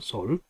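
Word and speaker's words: 率: 군대를 이끈다 할 때 이끌다의 의미로 쓰이기 때문에 솔이라고 써요. 솔. 그리고 여기서 이제 이정도 역시 도치대라고 하는데, 자, 자는 개강자한테 이야기했기 때문에, 그죠? 개강자하고 그대가 정으로서, 올바름으로서 이끌면, 그죠? 올바름으로서 견인하고, 여기 솔이라고 읽습니다. 여기서는.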